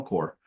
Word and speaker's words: Corps: and they you know it was called camel core um uh like corpse but we don't pronounce the so um there so they got